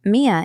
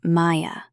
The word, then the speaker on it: Mia: Mia is easy, but sometimes people call me Maya.